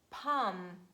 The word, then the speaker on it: palm: and letter l and mostly letter l is silent when it's preceded by vowels aou and is followed by a consonant for example huff cough palm bum walk talk chalk and could would and should never pronounce letter l there is another